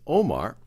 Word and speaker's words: Umar: He's succeeded by Umar, sometimes pronounced as Omar, who then is assassinated,